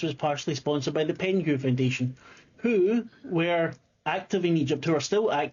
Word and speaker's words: Penhew: So we would know that the Penhaw, is it Penhaw? Am I saying it right? Penhew, excuse me. I thought it was H-A-W or something. No, H-E-W. H-E-W. Hugh.